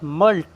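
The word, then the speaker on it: mulct: उसके [नाक से की जाने वाली आवाज़] बाद मल्ट। यहां पर सी साइलेंट है।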